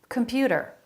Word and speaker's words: computer: Computer, computer. They're all saying that with a flap. Computer, da, da, da, da, da. A flap instead of t, a T sound. Computer, computer, middle syllable stress.